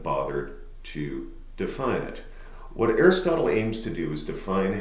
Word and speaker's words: Aristotle: Your second ancient is a guy by the name of Aristotle, or if you're particular about pronunciations, Aristoteus, right, is more accurately how it is pronounced.